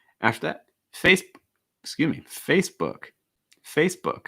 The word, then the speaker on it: Facebook: that face excuse me facebook facebook i think the key thing is the uh sound for book book an often mispronounced word